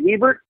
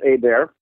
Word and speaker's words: Hebert: Looks like Hebert, but it's pronounced Hebert.